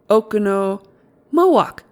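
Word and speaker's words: Oconomowoc: it Mo then okono okono moak moak aono moak easy enough when you have it Accent on second syllable the only trouble is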